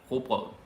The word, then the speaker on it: rugbrød: I know that's a hard word to pronounce. Rugbrød. Ikke rugbrød. It's actually hard to say when you're chewing. Brød. Okay? Just imagine something that's like rocket. Like R-U-G. Rugbrød.